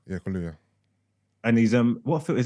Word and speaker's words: Kaluuya: Kaluuya? Yeah, Kaluuya.